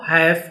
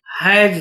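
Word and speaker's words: hash: लेकिन इसका क्या है, हम गलत उच्चारण करते हैं। उच्चारण क्या करते हैं, यहाँ पे हम इसको हैश कहते। तो हैश तो सही है, लेकिन हम क्या कह देते हैं, हैज दबाना, *123#, जो कि क्या है, गलत है।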